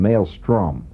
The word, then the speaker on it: maelstrom: male of the species it's spelled m a e l maom sounds like it's a Swedish word St r o m maelstrom Maelstrom you know ingred Maelstrom famous